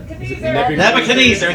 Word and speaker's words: Nebuchadnezzar: Nebu, Kadadazezer. Okay, you're a Bible person. How do you pronounce it? Nebuchadnezzar, thank you.